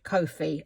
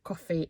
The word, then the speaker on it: Ko-fi: Now, the other thing, Tracie and Jay have got Ko-fi or coffee. It depends how you pronounce it.